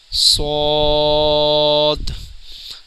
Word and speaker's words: ص: گی۔ آگے بڑھتے ہیں۔ صاد۔ ناظرین، جیسے کہ خا بلو تھا، یہ صاد بھی بلو ہے، اس کو بھی پر یعنی موٹا پڑھیں گے، اور اس کا صحیح